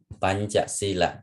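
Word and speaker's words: pañcasīla: Pa, okay, pa, and this nya and cha, you see, pancha sila, you see, S and E macron is long vowel, pancha sila.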